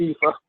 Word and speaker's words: kippah: Yeah, one of them they call it yarmulke, and the other one they call it a kippah. Same thing. Yeah, Kippa. I think it's pronounced in English Kippa.